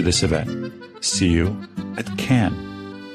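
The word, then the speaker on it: Cannes: The correct pronunciation is can like a can of soup, not like cans of soup.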